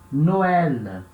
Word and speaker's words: Noël: A trema em cima do E, para indicar, eu tenho que separar o E do O. Tem que ler como se fossem coisas separadas.